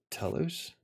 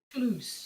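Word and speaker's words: Toulouse: raised in France in tus how do you say it toos toose toose I had it right I know people joke about it to win yeah I know I know this joke so tulus is in h southern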